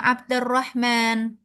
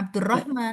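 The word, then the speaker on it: عبد الرحمن: Begitu pula dengan ya Abdarrahman. Bukan ya Abdurrahman. Ya Abdarrahman.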